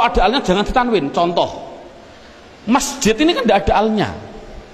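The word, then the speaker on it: مسجد: Masjid. Mengapa kok dibaca masjid? Mbok dibaca misjid saja.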